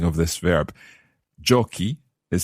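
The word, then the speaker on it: giochi: like so joko joki the joko form is co but jockey becomes c h c it sounds as it would normally sound joko jockey but we just need to add in that h in order for the c to stay strong then the he share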